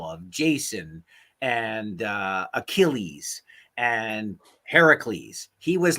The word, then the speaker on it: Heracles: I had no idea it was Heracule. How do you say it? Heracles.